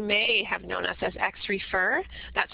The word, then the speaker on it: Xrefer: In terms of our name, some of you may have known us as XRefer. That's how it's pronounced, although many people had some difficulty with that name.